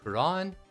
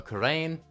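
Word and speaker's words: Khura'in: We are communed with the small kingdom of Quran, or Karain, depending on your pronunciation and how many of your friends you've had correct you about it.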